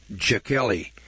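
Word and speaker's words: Jechiel: that shocked unwelcome visitors a jewish rabbi named jakely spelled j e c h i e l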